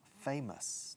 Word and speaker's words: famous: Y O-U-S al final se pronuncia como us.